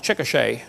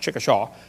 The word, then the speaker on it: Chickasha: 2005 textbook, and I pronounced it wrong, it's Chickasha, not Chickasha, Chickasha, Oklahoma.